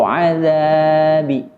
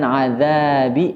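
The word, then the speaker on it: عذاب: Contoh azab, tidak boleh dibaca azab atau azabi. Akan tetapi cara membacanya, qalqalahnya adalah dengan mencondongkan ke harokat fathah. Seperti azab, bukan azabi atau azabu, tapi azab.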